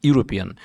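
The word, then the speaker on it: European: এটা সঠিক উত্তর হচ্ছে এ ইউরোপিয়ান। ইউ এর মতো উচ্চারণ হয়েছে, তাই এখানে এ ব্যবহৃত হয়েছে।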